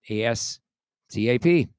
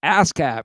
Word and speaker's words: ASCAP: or BMI or ASCAP, ASCAP, right? Great. So it's spelled the same way it sounds. Like an ASCAP.